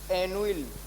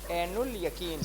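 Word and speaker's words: ऐनुल यक़ीन: जैसे एनुइल एनुइल करके इन्होंने कुछ उच्चारित ऐसा कुछ किया था, लेकिन उसका जो शुद्ध उच्चारण है वो एनुल है। ठीक है, एनुल यकीन करके।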